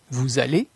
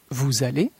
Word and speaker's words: allez: La terminaison EZ de la deuxième personne du pluriel se prononce E. Vous allez, vous allez, vous voyez, vous voyez, vous regardez, vous regardez.